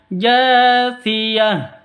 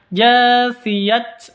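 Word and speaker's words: جاثية: Makanya cara bacanya jasiyah. Seperti itu, bukan dibaca jasiyat, bukan dibaca jasiyat ya, tapi jasiyah.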